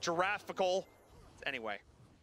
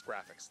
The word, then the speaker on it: graphics: It's not giraffical. Anyway, it's graphics. It's a G. It's a hard G.